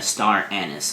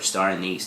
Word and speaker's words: star anise: 2 things immediately, right upon smelling it, you get is a green apple and a star anise, or star anise, depending on which part of the country you're from.